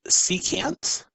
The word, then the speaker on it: secant: additional trig function is abbreviated sec and it's pronounced secant so the way that we say it is